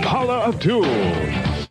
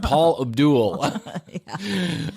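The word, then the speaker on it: Paula Abdul: the party line but he even say her name right he said Paul Abdul the world's New Sensation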